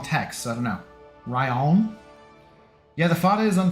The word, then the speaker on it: Rian: Now, Billy, he pronounces it Ryan Johnson. He doesn't pronounce it Rian. He pronounces it Ryan.